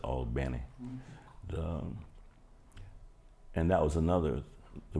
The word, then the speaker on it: Albany: albany new york but albany georgia or as the natives pronounce it all benny and that was another